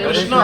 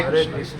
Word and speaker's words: कृष्ण: न पे जोर दीजिए, न पे जोर दीजिए। कैसे? हरे कृष्णा, हरे कृष्णा। हाँ ऐसे बोलिए। बंगाली भाषा में बहुत अच्छे से प्रोनाउंस हरे कृष्ण, हरे कृष्ण, हरे कृष्ण, है ना। सो उस टाइप से कृष्ण बोलिए, कृष्णा कृष्ण।